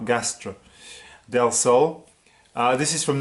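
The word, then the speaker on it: Gastr del Sol: Gastro is spelled G-A-S-T-R, G-A-S-T-R, Gastro, Del Sol.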